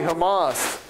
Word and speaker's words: HAMA: I always like to say Hamas.